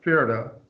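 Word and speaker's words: Pferd: at any rate um PF words right in the European people all used to pronounce P's and Fs together that was common you still have large numbers of words like that in German file an arrow right Fara PF e r d horse right fenny A Penny German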